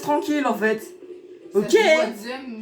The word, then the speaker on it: Wadsm: Wadzem, mais ça s'écrit Watsum. Je mettrai le lien de sa chaîne en description.